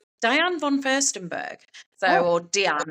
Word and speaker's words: Diane: But um Diane von Fürstenberg, so or Diane as she pronounces it.